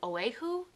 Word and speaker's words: Oahu: You said North Shore, O-A-H-U. Is it Oahu?